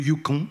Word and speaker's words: Yukon: a envie d'aller voir le Yukon ou le Yukon si on veut le prononcer à la québécoise ce qui est assez